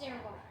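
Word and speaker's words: Eragon: It's Aragon. It's spelled dragon with an E, but it's called Aragon.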